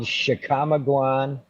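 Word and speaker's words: Chickamauga: a tricky word but it's called it's called chicamaguan national forest okay okay cool and that's on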